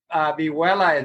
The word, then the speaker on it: vihuela: But vihuela is Vihuela. Vihuela. Okay. So it's spelled with an H and minus with the double L.